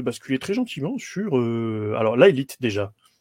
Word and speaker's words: Laelith: sur alors laite déjà on prononce bien laite ou on peut dire la'en va tout de suite avec un T et pas de H c'est pas c'est à l'anglaise non non c'est lalite à la française avec un T